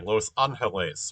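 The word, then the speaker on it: Los Ángeles: Um, sorry, Los Angeles, right? The stress is on the A, the first A.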